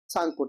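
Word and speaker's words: Tsangpo: सांगपुर T silent होता है ना?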